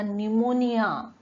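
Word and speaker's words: pneumonia: आता निमोनिया, निमोनिया, इथे पण पी सायलेंट आहे, निमोनिया बघा.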